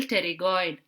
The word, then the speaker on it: pterygoid: It is from the nerve to medial pterygoid. They do not relay in the ganglion, they just pass through the ganglion and supply the tensor tympani, tensor palati. How to remember this? Pterygoid, the P is silent.